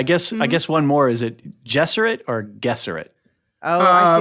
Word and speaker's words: Gesserit: Oh, I say RG Benny or soft G? Gesserit. Gesserit, yeah. Benny Gesserit. Benny Gesserit. Yeah. Okay, good. Yeah, all right, yeah. we're all on the same side. No. It's not. No, it's definitely not a hard G.